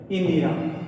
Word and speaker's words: इंदिरा: इंदिरा।